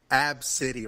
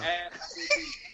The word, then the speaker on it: ABCDE: Her name is ABCDE. like Aspen? ESPN, Aspen? ABCDE. And she pronounced it ABCDE. Oh, my God. Kind of like Rack City. Rack City, Rack. Ab City right there, now.